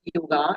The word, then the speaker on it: yoga: So, what is exactly yoga? As uh we pronounce it yoga, actually it is yog.